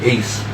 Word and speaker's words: AC: Apparently they call him Ace out there. We wasn't hip that they call him Ace out there.